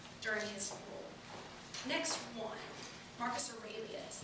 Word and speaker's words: Marcus Aurelius: Marcus Aurelius is how you say that.